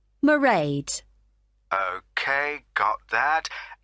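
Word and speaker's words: Mairead: see my assistant married sorry how do you spell that it's m a i r e a d merade okay got that it's not a name I'm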